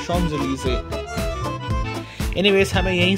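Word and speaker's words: Champs-Élysées: थू प्रशन देखा है इसको अक्सर लोग बोलते हैं चम जली स्पेलिंग इसका यह है लेकिन इसको फ्रेंच एक्चुअल प्रोनंसिएशन है शम जली एनीवेज हमें यहीं से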